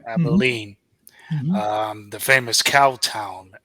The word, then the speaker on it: Abilene: bring us to um tell me if I'm pronouncing the name of that town Abilene Kansas yes Abilene right Abilene um the famous Cow Town as it was